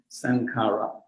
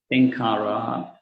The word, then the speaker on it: Sankhara: Sankhara, in Pali word Sankhara. In Burmese language, that is Thankara. Thankara in Burmese language, Burmese pronunciation. Burmese pronunciation and international pronunciation is really different from each other.